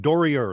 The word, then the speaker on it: Doerrier: right off the bat Dory ER it has a German pronunciation has a German pronunciation okay so David Doria welcome to the ET